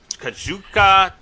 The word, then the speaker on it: Kazuchika: Kazuchika Okada versus... Pronounce it without the I. Wait, without the I? Yes. Yeah, Kazuchika. Better.